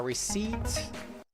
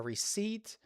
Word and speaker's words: receipt: A receipt, not a receipt. Remember that P is silent. A receipt, a ticket, a textbook, or a bill.